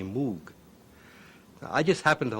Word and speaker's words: Moog: Uh, in Germany, it's a fairly common name and there it's pronounced Moog. In Great Britain, English-speaking countries, uh, people see the double O and they say Moog.